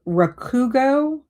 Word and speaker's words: Rakugo: Um it's called Rakugo.